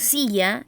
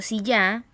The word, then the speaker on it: silla: carga de voz, y tenemos el ejemplo silla, ¿cierto? Una palabra con 2 sílabas, cuya sílaba tónica es si, que decimos silla y no silla, pero no lleva tilde, ¿ya?